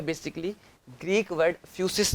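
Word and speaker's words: φύσις: बेटा ये जो लिखा हुआ है ग्रीक लैंग्वेज के अंदर ही मैंने लिखा है, इसको प्रोनाउंसिएट कैसे करोगे, क्या है ये है फ्यूसिस बेटा।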